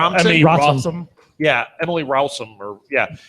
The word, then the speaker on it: Rossum: Emily Rossum. Yeah, Emily Rowson. Rossum.